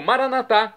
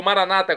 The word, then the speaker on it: Maranata: Deus Ok e agora eu clamo maranat como dizemos nós católicos ou Maranata como dizem nossos irmãos separados os evangélicos ou protestantes não importa a pronúncia o significado é o mesmo vinde Senhor Jesus um